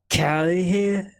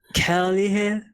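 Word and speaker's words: kærlighed: enunciate the words a little bit more hardly, because Danish is all about not being hard in the pronunciation.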